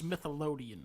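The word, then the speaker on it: Smithsonian: It's pronounced Smithian.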